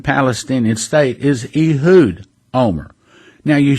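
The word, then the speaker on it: Olmert: again OLM ERT however I was in Israel I heard people pronouncing his name and in Israel you pronounce his name Omer just like ome are yes we're familiar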